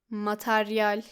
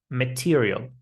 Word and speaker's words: material: Sometimes it's pronounced like material. So it should be material. Material.